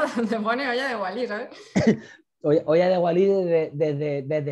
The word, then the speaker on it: Hoya de Gualy: Ah, pues no, a mí me suena eso. Olla de Wally y claro, pienso en Wally y ya digo, vale, pues ya encontraré lo de la olla. No, se escribe con G-U-A-L-Y.